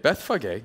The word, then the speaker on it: Bethphage: Bethphage, that's how you pronounce it.